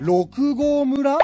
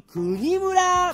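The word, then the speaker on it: 六合村: 六号村？残念！国村！国？え、これで国って読むの？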